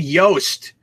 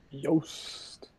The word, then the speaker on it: Yost: John asks how to pronounce the actor's last name who played Billy. That's David Yost. Yost.